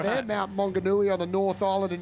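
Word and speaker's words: Maunganui: The Aussie is going to be taking on Darcel Apollo from Mount Monganui. Getting my pronunciations right there. Mount Monganooi on the North Island in New Zealand.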